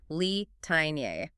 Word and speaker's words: Litaniae: I'd probably say Litaniae. 4 distinct syllables, Litaniae, but the instructions in the file tell you to sing it differently. They say to pronounce it as a triplet, Litaniae. Okay, I hear that, Litaniae. Yeah. It kind of smushes the end together. So that's 3 syllables.